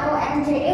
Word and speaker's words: once: Terus, nah sekali once ya, buat tulisannya ONCE bacanya once, sekali dalam.